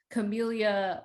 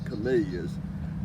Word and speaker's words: Camellia: He gave everything a Latin name, all the plants, and he named them for a Jesuit medical missionary named Joseph Camel.